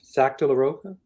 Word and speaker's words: Zach De La Rocha: The lead singer was Zach De La Rocha.